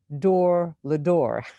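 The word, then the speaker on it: לדור ודור: actually pointed out that in hebrew the term generation to generation is pronounced door lador so there are some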